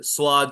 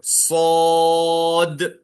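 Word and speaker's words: صاد: में हम वाऊ की साउंड ला लेते हैं स्वाद स्वाद स्वाद नहीं होता ये गलत जो है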